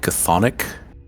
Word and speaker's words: chthonic: It's I don't know how to pronounce this. Chthonic. Chthonic, yeah.